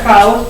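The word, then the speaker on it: χάος: Se pronuncia caos porque es una KH, bueno, es áspera.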